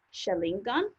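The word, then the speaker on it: xaringan: quite often is actually how do you pronounce that package and so I've been seeing it a few times so hopefully you got it now which is Sharingan and if there's people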